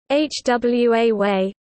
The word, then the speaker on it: Huawei: In Chinese pinyin, it is Huari, and close in pronunciation to "hwa Wei" in standard Chinese, but close to "Huawei" in Cantonese.